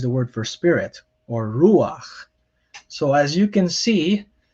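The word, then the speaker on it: רוּחַ: underneath a consonant where instead of pronouncing it after the consonant you pronounce before it so remember um normally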